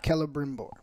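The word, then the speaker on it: Celebrimbor: was was wavering right saying it's K huh Kella bmore Kella bmore yeah you're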